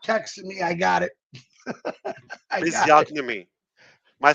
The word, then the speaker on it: physiognomy: Let me see if he He's says pronouncing it the G. All right, reading faces. Okay. Physiognomy. There it is. Hear that? Physiognomy. Yeah, I like that. That is more reasonable.